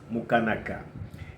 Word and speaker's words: Mukanaka: So it's pronounced Mukanaka. And really the hardest part is just going slow in the places where you should go slow, the syllables and whatnot, because, most would rather just go straight, Mukanaka, and I always have to tell them, no, slow down.